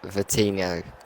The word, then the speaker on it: Vitinho: And we've just had Harry West say, think you say it like the end of Ronaldinho with Vitinho.